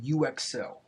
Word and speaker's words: Uxcell: I tend to order a lot of hardware from UXL. UXL makes a lot of really good products. It's spelled UXCELL.